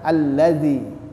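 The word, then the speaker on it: الذي: seperti saya katakan tadi jangan sampai ketukar dengan huruf z karena lidah kita tidak kita keluarkan sehingga terucaplah huruf Zai seharusnya kita tahu ee mungkin kita tahu ini huruf dza tapi karena cara pengucapannya salah sehingga terucap Kitalah huruf Zai alladzi ya alladzi Karena ujung lidah tidak kita keluarkan nah tapi kalau kita keluarkan alladzi alladzi ya tidak seperti dia ee huruf Zai alladzi ya jadi dikeluarkan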